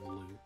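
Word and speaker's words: Valoo: High atop the island's peak lives the spirit of the skies, a great dragon by the name of Valu? I think it's actually pronounced Valu.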